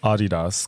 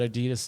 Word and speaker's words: Adidas: Isn't that the way you're supposed to pronounce it? It's exactly, Adidas. That was his name, yeah. Adidas.